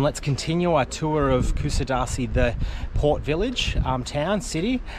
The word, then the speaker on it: Kuşadası: I believe it's pronounced, and I could be wrong still, Kusadasi.